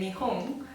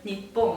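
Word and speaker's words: 日本: Yeah, okay, so in Japanese we just say Nihon or Nippon. I don't. There are different ways of saying it, but the most common one is Nihon.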